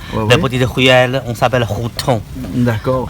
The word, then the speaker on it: Hutong: Maintenant, vous êtes dans la vieille ville de Pékin, la maison sans étage, la petite ruelle, on s'appelle Hutong. D'accord. H-U-T-O-N-G, on prononce H comme R.